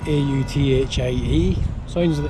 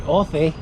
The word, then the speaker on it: Authie: It's spelled A-U-T-H-I-E. Looks like Authie, but it's pronounced Authie.